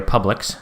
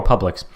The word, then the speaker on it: Publix: For those unfamiliar, Publix, which is public spelled with an X, is like a grocery store chain in the United States.